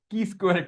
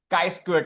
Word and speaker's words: chi square: Now a lot of people you know pronounce it it's k square test or you know k square test. So it is the actual pronunciation of that is kai square test c hi.